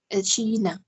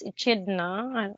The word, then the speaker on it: echidna: The monotreme so here is called an echidna.